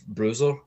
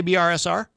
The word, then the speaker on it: BRSR: Am I not supposed to say BRSR? No, it would be Bruiser, but we get a